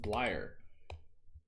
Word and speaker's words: Bleier: It is indeed pronounced Bleyer.